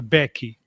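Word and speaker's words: beque: But when I arrived here, you could still see people referring to a defender, a back as a Becky. It was spelled b e q u e.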